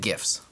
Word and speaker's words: GIF: to your stream with things like videos and GIFs. And yes, it's pronounced GIF.